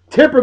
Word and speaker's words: Tipper: a chick that has a name that rhymes with stripper I just came up with that Tipper Gore you never heard